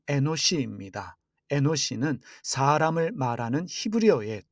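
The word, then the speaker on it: אנוש: 에노스의 히브리어 발음이 에노시입니다.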